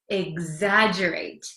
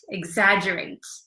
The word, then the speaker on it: exaggerate: it again exagerate it looks like it's hard to um pronounce because there's an X there's two G's it's kind of a mess but it's exaggerate exaggerate okay so do you